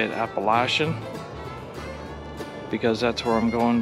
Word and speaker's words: Appalachian: Trail through hike, or you can say it Appalachian, because that's where I'm going down south and they pronounce it Appalachian.